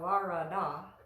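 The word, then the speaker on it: वरद: know about this word you see the ve looking were letters in here those are made by placing the upper front teeth on the inner edge of the lower moist part of your lower lip and it's not vara Varadhan it's not it's very soft so that era is we've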